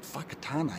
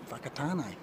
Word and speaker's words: Whakatane: people have it's called fakat actually wh but you actually pronounce the wh as an F which is interesting fakat what's a great place